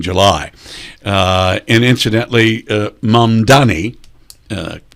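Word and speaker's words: Mamdani: Uh and incidentally uh Mandani uh correct pronunciation uh is is not a commie he's a socialist.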